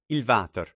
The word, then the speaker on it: water: itself you would say ilvater like the water but pronounced with a v sound on the beginning la casa tierra the